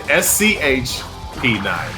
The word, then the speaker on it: CP9: That's how they say it. SCHP9.